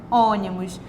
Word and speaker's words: ônibus: olha só a minha sílaba acentuada ela sempre pronunciada com mais força a mesma coisa em ônibus ônibus então todas essas palavras elas possuem acento